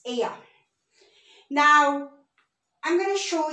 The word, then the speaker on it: ella: Remember in our abecedario, double L is Y, so it's ella. It's not ella. It's ella.